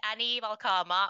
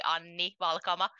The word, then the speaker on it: Anni Valkama: So my name is Anni Valkama, or if we were to pronounce it correctly, but very few English speaking people actually can. In Finnish, we would say Anni Valkama, but either way works.